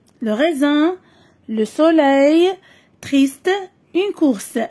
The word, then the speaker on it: raisin: Nana S se prononce Z. L'homme le bakrim qui entre S. Le raisin, le soleil, triste.